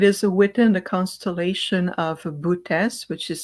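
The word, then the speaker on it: Boötes: It is within the constellation of Bootes, which is spelled B as in boy, O T as in Tom, E S, Bootes constellation.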